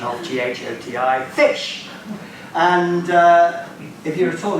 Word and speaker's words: ghoti: So Bernard Shaw said, there's the pronunciation of GHOTI, fish.